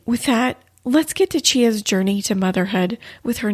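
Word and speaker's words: Chyenna: about yourself sure so my name is chia that's the first thing is it's spelled chyen a and so most people are like how do you say that girl's name so that's my name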